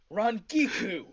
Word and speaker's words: Rangiku: Rangiku.